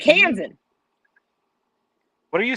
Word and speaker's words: Kansan: It's Kansan. What are you saying? Pronounce it phonetically. Sound it out. Clap the hands. Kansan. Kansan. Like the cans in the cupboard?